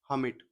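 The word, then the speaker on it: hermit: कहानी का टाइटल है द ओल्ड हमिट। देखो, ई आर साइलेंट रहता है इसमें।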